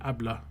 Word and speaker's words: habla: Just for reference, the Hablo or Habla is pronounced Ablo and Abla.